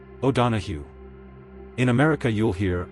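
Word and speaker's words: O'Donohue: O donahu. Memory trick. The end is hu not goo. Think donahu.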